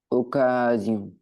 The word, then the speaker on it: occasion: Occasion, Occasion. C'est bien. Tout à l'heure, tu m'as dit occasion. Attention, ici, il n'y a bien qu'un seul S.